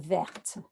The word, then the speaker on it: verte: And that E that we put on the color adjective to agree with the noun, which is feminine, will make that T sound. So it'll be c'est une chenille verte.